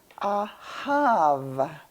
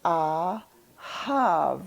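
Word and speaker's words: אהב: and we're pronouncing it ahav. The second letter is a hey. The third letter is a bet, which can be pronounced either as a ba or a va.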